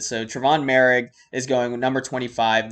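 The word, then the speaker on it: Moehrig: m-o-e-h-r-i-g i think it's mo rig but it's actually merig you don't even pronounce the h in it so travon merrig is going with number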